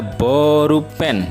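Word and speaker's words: ボールペン: adalah pensil kemudian ada borupen ya cara pengucapannya agak panjang bonya ya makanya saya Tuliskan disini ada minus ya tanda minus ya borupen ya borupen itu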